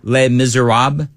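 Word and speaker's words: Les Misérables: How do you say les miserables? Les miserables?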